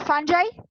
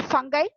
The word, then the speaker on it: fungi: about bacteria, and Protista, single cell organism, and fungi or fungi, we can pronounce நம்ம pronunciation கொஞ்சம் differ ஆகும்.